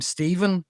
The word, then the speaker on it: Stephen: And the thing with the MH is, so, the name Stephen has a PH in it, and that's a V.